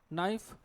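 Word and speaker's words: knife: और क्या लिखा है नऊ, जिसमें क्या भाई, के साइलेंट है, निट, के साइलेंट है, नाइफ, के साइलेंट है।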